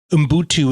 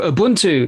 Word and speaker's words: ubuntu: heard through popular culture there's a couple of different pronunciations of it umbutu is the way that i've heard it pronounced what is that and